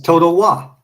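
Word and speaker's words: Totowa: Yeah, it's Toto Wa.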